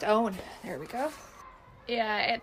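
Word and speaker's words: Eoghan: It looks like Eorgan. No, I'm sorry. We're making a joke. Was I supposed to lea Thoga? So, it's an Irish spelling.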